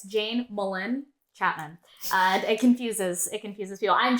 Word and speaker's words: Melynn: I'm Jane Melynn Chapman, and it's pronounced that way, by the way. It's Jane Melynn Chapman.